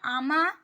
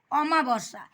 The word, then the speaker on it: অমাবস্যা: এইজন্য পড়ার সময় অবশ্যই শব্দের উচ্চারণের উপর সঠিক দৃষ্টিপাত করতে হবে। দেখো আমি তোমাদের এখন উদাহরণ সহযোগে বোঝাচ্ছি। এই যে আমা বর্ষা কথাটা আমরা কি বলি? আমা কিন্তু কখনো নয়। কথাটা হচ্ছে অমাবসা।